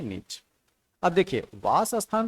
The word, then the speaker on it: niche: देखिए, जो मोस्ट एक्सपेक्टेबल जो प्रोनाउंसिएशन है इसका, वो है नीच।